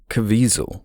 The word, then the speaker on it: Caviezel: Is it Caviezel?